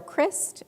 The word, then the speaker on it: Christ: their names are carol crist her last name is spelled like christ but she goes by chris she actually passed away